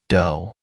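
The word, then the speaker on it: 道: The characteristics of the warrior in his fullness amount to a total way of life, what the samurai called a do, pronounced do.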